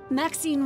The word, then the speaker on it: Maxine: of most Exquisite varieties Maxine rhymes with Queen after all and but